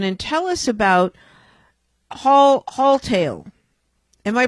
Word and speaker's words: Haultail: tell us about hall hall tale am i pronouncing it correctly sure it's hall tale as it sounds haultail is a on-demand